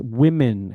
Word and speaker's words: women: This one, many people get this wrong, the pronunciation. One woman, two... Woman. No, it's not woman, it's women.